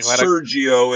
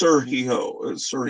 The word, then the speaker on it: Sergio: to that yeah yeah in Spain it would be Sergio aragones okay all right you have you have to stress the the E A little yeah Sergio it's Sergio yes I mean I